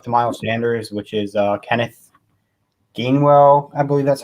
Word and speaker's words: Kenneth Gainwell: Maybe even our rookie running back, if he's a backup to Miles Sanders, which is Kenneth Gainwell.